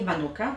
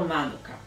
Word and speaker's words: Manuka: miód Manuka Aha i zwróćcie uwagę na właściwy Akcent nie Manuka tylko Manuka No tak to się właśnie naprawdę tutaj wymawiam No więc taki miód